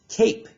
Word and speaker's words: cape: the same for example we have the word cape here now we are not hearing this silent e at the end but we do hear this a making the a sound however without that silent